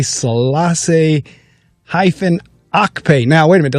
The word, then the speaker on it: Okpe: All right, so now how do you say it? Okpe. I like to make sure I get all of them right. It's Okpe. Yes, Okpe. Okay, so it's Dr.